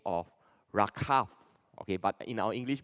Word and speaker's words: Rachav: Okay, so today I'm still going to adopt the English pronunciation, Joshua, and they eventually entered a house of a prostitute by the name of Rachav. Okay, but in our English Bible we read as Rahab.